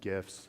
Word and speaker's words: GIF: your JPEGs and gifts yes I said gifts hard G please choose Imams choose